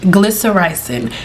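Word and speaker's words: glycyrrhizin: PowerHouse within licorice root glycer rizen is a tongue twister but that's how you say it glyer Rising glyer ricing is freaking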